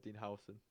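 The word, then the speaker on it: Huijsen: that I nearly put in as well is Dean Howson, not Hoyson, however the hell you say his name.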